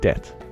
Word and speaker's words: debt: So we ended up with words like debt. The B is silent, added to show it came from Latin debitum.